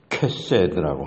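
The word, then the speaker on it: חסד: 캐세드라고 하는 것이 캐세드, CHESED, 히브리어를 그냥 로마자로 영어 알파벳으로 그렇게 쓰고 발음하면 캐세드입니다.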